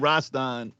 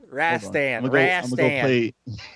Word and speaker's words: Rastan: go play me some rastan oh roster oh rash stan yeah i didn't know how to pronounce it till i heard online i was doing it wrong but yeah i'm gonna